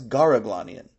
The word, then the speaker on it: Garaglanian: would pronounce it as Garaglanian since the letter K is typically pronounced as G among Western Armenian speakers like Soran's family.